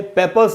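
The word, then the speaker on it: papers: Pickled में दोस्तों कुछ भी नया नहीं है, पेपर्स में ये जो आर है, इस आर के पहले एक वावल है और उसके बाद कोई भी वावल नहीं है, इसलिए उस आर का उच्चारण नहीं होगा, इसको हमको पढ़ना है पेपर्स, इसको हम पेपर्स नहीं पढ़ेंगे।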